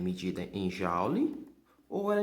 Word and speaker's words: joule: Você escreve assim, só porque no momento da pronúncia, no lugar do O, você pronuncia um A, tá? Então se escreve joule, mas a pronúncia correta é joule.